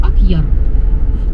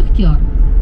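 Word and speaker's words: Акъяр: А когда русские моряки пришли сюда, здесь маленькая татарская деревушка Акьяр. Русский на свой лад произносит Ахтияр.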